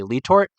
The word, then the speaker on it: Letort: A lot of the Pennsylvania old timers that are kind of from that area say Letort. But I think that James Letort, when he came and settled in that valley, coming from France, never pronounced his own name Lee Tort.